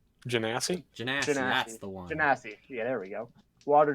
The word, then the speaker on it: Genasi: How does pronounce the race? Genocide. Water genocide. Genasi? Genasi, that's the one. Genasi.